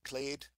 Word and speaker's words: clade: next slide I like this word clade rhymes with blade it's um I don't